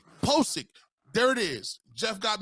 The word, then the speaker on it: Pocic: Is it Pocic, Pocic, whatever? Pocic. Pocic.